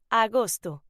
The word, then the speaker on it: agosto: August in Spanish is pronounced agosto.